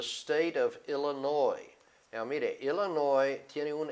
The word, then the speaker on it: Illinois: Now, mire, Illinois tiene un S. Casi todo el mundo quiere decir Illinois, pero no es. Usted no pronuncia la S, la final. Eso es una excepción.